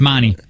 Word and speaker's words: Monte: You're saying it wrong. It's Monty.